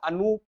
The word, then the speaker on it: Anup: So, and also, sir, Anup, double OP would actually mean that the middle syllable is more dragged.